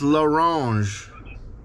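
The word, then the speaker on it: L'Orange: and the last name is l it's lorange okay your s is silent that means right uh it's the it's the no there's no s it's laange l apostrophe o r a n g e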